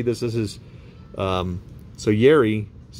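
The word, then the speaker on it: Jari: also yuri curry this is his um so yerry his name is spelled j-a-r-r-i and they only spell it with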